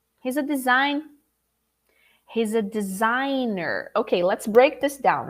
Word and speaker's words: designer: open it here do you say designee the professional instead of designer oh wait there's a